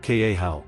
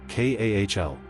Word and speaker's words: Cathal: Pronounced k a how, sometimes you'll hear it closer to k a h l, depending on the speaker.